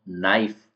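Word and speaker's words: knife: silent है next में के साइलेंट है इसको बोलेंगे हम नाइफ जिसमें कना ऐसा नहीं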